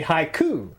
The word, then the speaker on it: haiku: get all the syllables you had to pronounce Haiku with three syllables like he said hot like high IQ you know what I'm